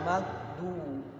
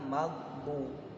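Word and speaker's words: الْمَغْضُوبِ: Nah, kebanyakan kalau kita kan anak-anak itu kesusahan atau sangat susah juga, malah menjadi da, ghairil maghdu, bukan maghbu.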